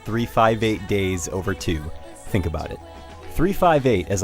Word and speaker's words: 358/2 Days: and before we go on yes it's actually pronounced 3-5-8 days over 2 think about it 3-5-8 as i'll call it